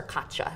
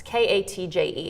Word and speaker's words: Katje: Then I read on the smartboard a book called, I always pronounce her name wrong, Boxes for Katja. It's Katje.